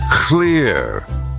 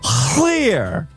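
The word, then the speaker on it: Llŷr: Think more Shakespeare's king, less Star Wars princess.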